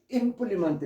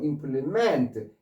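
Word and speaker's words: implement: 앞에 강세에 있어서 임플리먼트 이럴 때는 기구 또는 도구 어떤 도구 기구나 도구의 의미로 쓰여요. 기구나 도구. 그런데 이 단어가 임플리먼트 조금 전에 임플리먼트라고 발음하는데 이제는 뒤에 강세 있는 거예요. 동사로 임플리먼트 뒤에 강세 있으면 동사가 돼.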